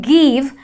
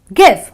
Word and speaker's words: give: English speakers you know end up saying give and that is wrong so it's give it's a short brief sound this unlike these which